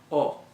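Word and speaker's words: を: looks like a wasp the second one is technically considered a w even though the W is silent so it's very weird basically it is oh which is kind of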